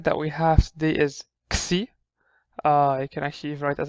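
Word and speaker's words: Ⲝ: It's called Xi, also simple, just called Xi. And it's pronounced as an X, just X. You don't see, it's not XC, it's just X. KS, just a KS.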